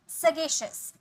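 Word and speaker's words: sagacious: विवेकशील, सगेशियस, सगेशियस, शौन ही, सगेशियस, सगेशियस, यहाँ पे श का साउंड आएगा, ठीक है, सगेशियस, श, ठीक है।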